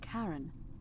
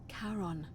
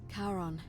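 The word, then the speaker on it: Charon: it's just as you described it only your pronunciation is a little off the name you heard wasn't karen it was c h n as in caron the ferryman of the dead karon who in exchange for the right coin helps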